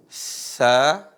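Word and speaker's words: ث: Huruf sa, perhatikan, ujung lisan ketemu dengan gigi seri atas. Cara bacanya sa, si, su, bas.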